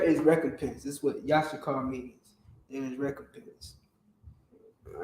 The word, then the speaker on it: Issachar: The word Issachar or Yashakar, which is the proper pronunciation, Yashakar. Yashakar. All right? That's how you properly pronounce Yashakar, Issachar.